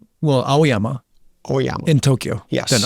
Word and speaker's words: Aoyama: Amaya? Well, Aoyama.